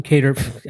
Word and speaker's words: Kattar: You got to go to Qatar or Kattar. Yeah, Kattar. I keep fucking it up.